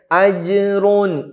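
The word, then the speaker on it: أجر: فَلَهُمْ പിന്നെ أَجْرٌ أَجْرٌ أَجْرٌ ജീമിന്റെ സുക്കൂൻ വ്യക്തമാക്കി പറയണം.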